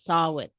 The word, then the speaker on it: Samhain: Ah, it is Samhain. Samhain. Okay, but I grew up saying Samhain because in English, that's what it is. That's what it looks like, right? But this is not an English word. So it's Samhain. And this is from Ireland.